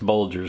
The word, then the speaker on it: Bulger: George Phillips Hudson Bulger I heard the last name pronounced two different ways and I had to track him down and find out it was actually it's Bulger so we'll run with